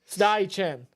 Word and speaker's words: Steichen: Like Steiner and Chen. Steichen.